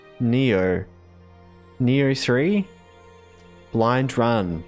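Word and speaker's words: Nioh: It's not Noir. No, it's it's like Neo.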